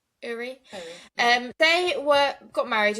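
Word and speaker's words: Ury: I think that's how you pronounce her name. U R Y Uri.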